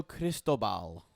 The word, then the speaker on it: Cristobal: their new head football coach would be mario cristobal that's it you pronounced that one right i swear the heart